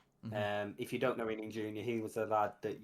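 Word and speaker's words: Illing-Junior: I've actually wrote here, Illing Jr., is that how you pronounce his name?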